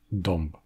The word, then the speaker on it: dąb: au niveau des lèvres, alors c'est le son [m], qui est donc à la fois nasal et labial, qui va faire naturellement la transition. Vous l'aurez deviné, les autres consonnes labiales que le [m] sont le [b] et le [p]. C'est encore une fois vrai en polonais, devant les consonnes occlusives labiales "b" et "p", avec des mots comme "głęboki", profond, "tępy", obtus et "dąb", le chêne.